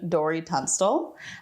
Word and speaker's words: Dori Tunstall: sitting here with the wonderful the lovely Dean Dorie Tunstall okay do I pronounce this right yeah yeah it's all amazing